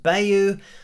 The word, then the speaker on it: bayou: And in terms of the title of this song, I know that Anita sounds like she's saying Bayou, but I've also heard this pronounced Bayou.